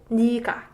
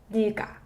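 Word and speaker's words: 네가: And it's read 니가, 니가. And some of you might be confused here because 네, this letter is supposed to be read 네, right? But I just pronounce it 니가, 니가.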